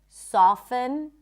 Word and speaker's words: soften: But just so you know, the T is generally not pronounced in this word. Fasten, soften, moisten.